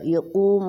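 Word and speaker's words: يقوم: وللمؤمنین یوم یقوم الحساب، یقو قاف موٹا، یقوم الحساب، با پہ قلقلہ ہو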